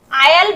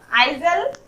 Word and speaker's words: aisle: उसके उसी तरह AISLE, इसे आयल बोलेंगे, आइजल नहीं बोलेंगे, इसे आयल बोलेंगे। एस यहाँ पर साइलेंट है, आयल मतलब गलियारा।